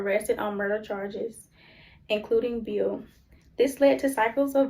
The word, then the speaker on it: Beal: The strike began with help from Northern Union organizers Fred, how you pronounce that? Beal.